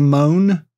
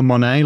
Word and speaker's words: Mone: There's Michelle Moan, the Tory Baroness. Is she a big hoax? Well, first of all, I want to pronounce her name Michelle Monet, like Janelle Monet, so that's annoying.